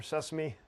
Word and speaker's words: SESAME: Okay, SESME, or Sesame, if you want to pronounce it.